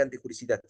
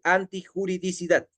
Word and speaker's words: antijuridicidad: pero así se menciona no se dice antijuricidad se menciona correctamente antijuridicidad sí es un término